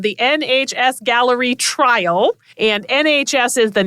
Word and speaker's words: Galleri: And the test is called Gallery. like a gallery of cancers, I suppose.